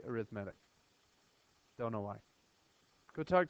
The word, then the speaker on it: arithmetic: arithmetic sequence and yes arithmetic is spelled exactly like arithmetic but for some reason we say arithmetic don't know why go